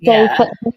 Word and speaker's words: Beaufort: I would have said that was like, it might be Beaufort. It's pronounced Beaufort.